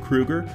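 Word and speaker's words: Kroeger: lead singer Chad Krueger yes that's how you pronounce it Krueger studied up on what made music sell and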